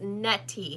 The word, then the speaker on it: Nettie: and we say it like it sounds like a D. Yeah. Nettie. And it's not. It's Nettie. Nettie. It's Net.